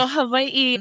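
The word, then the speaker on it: Hawaiʻi: repeat it's hav hav the W is sometimes pronounced as a v but there's definitely what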